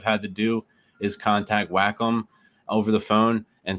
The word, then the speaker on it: Wacom: tablet and rough price it is called the wacom it's it's spelled w a c o m it's called